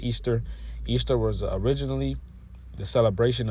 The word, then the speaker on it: Ishtar: It says, "This is Ishtar, pronounced Easter.